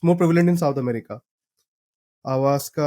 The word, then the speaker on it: ayahuasca: Avaska, I think it's pronounced like that.